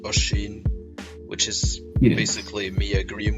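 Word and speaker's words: Oisín: Anyway, this one, it's obviously pretty notable in that it shows the dissatisfaction of Usheen in people mispronouncing his name. Like if you see it's spelled Oisin, so you'd probably think that's Oisin or something, but stuff like that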